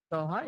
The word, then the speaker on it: Doha: think we've caught up right because do Doha Doha is how you pronounce it uho happy viewing from the local